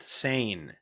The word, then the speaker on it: Seine: internet at our fingertips how do you pronounce pronounced sane very good thank you internet the